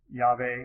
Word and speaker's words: Yahweh: It's the same name, different pronunciation. Yahweh or Jehovah.